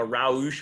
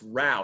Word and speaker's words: Rauch: mr row there like how it's pronounced rao because it rhymes with cow that's what i tell